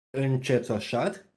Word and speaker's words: încețoșat: Yes, încețoșat. Yeah, so because C is followed by an E, we pronounce it ce, not che.